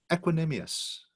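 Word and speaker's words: equanimous: nothing can bother you it's being equinemeous that's the right way you pronounce it you know equal minded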